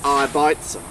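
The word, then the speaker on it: Arbeitsam: name resolution Mark called RB at Sam RB at Sam the correct correct pronunciation of this horse is iitm or I bitum it's a German word for industrious the mother of this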